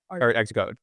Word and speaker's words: ArtxCode: Art Xcode.